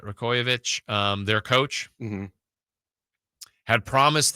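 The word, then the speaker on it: Rajaković: of Toronto uh Darko uh rajovic I think is how you say it rovic um their coach had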